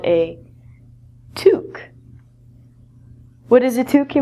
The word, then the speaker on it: toque: The pronunciation of this word is different than the spelling because it's French.